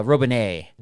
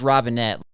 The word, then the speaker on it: Robinet: uh Robinet and that's not and it is Robinette.